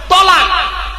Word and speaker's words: তলাক: সাদা কিছুটা তো চলুন শব্দটা কিন্তু তালাক বলবেন না তলাক আচ্ছা চলুন দেখি ওর